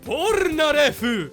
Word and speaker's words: Polnareff: and I love that if you pronounce Polnareff's name like the Japanese, it becomes Pornarefu.